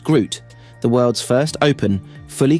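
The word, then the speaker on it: GR00T: At Nvidia's recent GTC 2025 conference, CEO Jensen Huang unveiled the Isaac GR0000TN1, pronounced Groot, the world's first open, fully customizable foundation model for generalized humanoid reasoning and skills.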